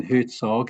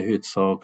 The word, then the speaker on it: Herzog: I heard you say Herzog, Ruth, so I'll say Herzog. I hope that's the correct pronunciation.